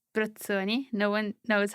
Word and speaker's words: Brozzoni: it depends by the way my surname it's britsoni no one knows how to pronounce it but there's this town which is